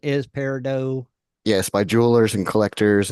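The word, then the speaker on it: peridot: real pronunciation versus other pronun and the real pronunciation is Paro yes by Jewelers and collectors and rock hounds and or green moss man right but Tim and Dennis pronounce it paradot it looks like paradot well they the last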